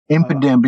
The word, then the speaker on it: Impidimp: a spiritum an exu um how do you pronounce this an impidimp impidimp yeah okay and my reverse Hol is a